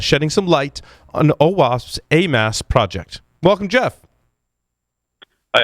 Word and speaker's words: Amass: It's probably not Amass, right? I mean, sometimes I am an ass, but I mean, just ask the other hosts. Good question, because I seem to get many variations on pronunciation. It's Amass.